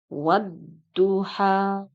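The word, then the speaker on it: والضحى: contoh yang kedua adalah wadduhha ini juga sama termasuk ke dalam hukum alif lam syamsiah kenapa hukum alif lam syamsiyah karena lamnya tidak terbaca tetapi langsung dimasukkan ke dalam huruf Dod maka dibacanya wadduhha contoh yang ketiga adalah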